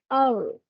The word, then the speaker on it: hour: perfectamente Okay por ejemplo la palabra Hour Hour Hour Hour empieza con la H la escritura pero su sonido es de una vocal Okay por ejemplo la